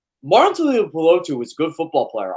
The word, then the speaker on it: Tuipulotu: I can never pronounce Marlon Tuipulotu. Tuipulotu.